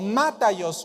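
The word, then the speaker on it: μάταιος: Esta palabra vana está en el griego mataios o mataios con acento en la A.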